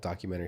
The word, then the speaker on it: documentary: Yeah, putting the wrong emphasis in the wrong level.